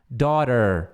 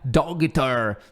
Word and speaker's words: daughter: Daughter, daughter. E esse aqui é quase um E, assim, ó. Daughter, daughter, daughter. É assim que pronuncia. Daughter, daughter, daughter, ok? Claro que escreve desse jeito muito maluco aqui, né? Dogter, mas não é dogter, é daughter.